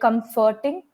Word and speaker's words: comforting: It's just that some minor pronunciation mistakes, like comforting. So try to pronounce the F properly.